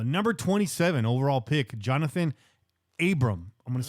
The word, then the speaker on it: Abram: We like to put syllables and letters and vowels up in that bitch, consonants. Now it's Jonathan or John Abram. There you go. Not Abrams, not John Adams.